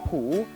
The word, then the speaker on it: Hu: Both in English and in Chinese, you're gonna pronounce it as Hu.